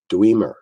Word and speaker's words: dweomer: Dwemer.